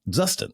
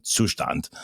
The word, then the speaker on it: Zustand: And so I did a video on it and I called it "Zusted" cuz I'm an American, you know?